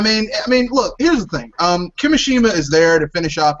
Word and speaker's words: Kimishima: So many people are ready to ride on Kimishima's. Have I said it right? Kimishima.